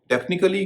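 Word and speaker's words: technique: है यानी वहां क का उन का होगा टेक्निकली क्य कभी किसी शब्द के अंत में नहीं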